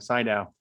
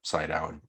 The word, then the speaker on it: Sydow: his name right it's is it seed outside how do we pronounce his name and say down last time side out like side eye okay hopefully i'm getting